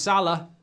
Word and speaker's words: Salah: much Liverpool scor again it rhymes with Farah it's Moos Salah 2-0 ips switch have